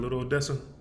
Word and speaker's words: Little Odessa: Little Odessa. That's how you pronounce it, Little Odessa.